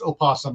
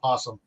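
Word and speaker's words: opossum: Most people don't know that uh the pro the proper pronunciation is opasum not possum.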